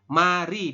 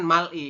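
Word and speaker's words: 말이: naik ke atas kan bunyinya jadi R bukan l Jadi mari dibacanya seperti itu oke bukan Mal I kalau cara Tuliskan memang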